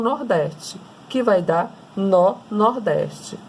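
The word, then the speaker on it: nor-nordeste: Então, é N com o norte com o nordeste, que vai dar nó-nordeste. É assim a pronúncia.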